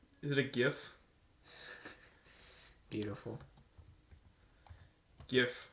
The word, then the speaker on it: GIF: GIF, which is pronounced GIF, not GIF.